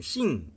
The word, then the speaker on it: 行: 행은 싱 그러니까 싱 이제 중국어니까 싱으로 발음을 하죠.